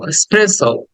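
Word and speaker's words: espresso: ওকে দেন 27 এসপ্রেস স্প্রেস এক্সপ্রেস লাস্টে একটা ও sound আছে স্প্রেস স্প্রে সো স্প্রে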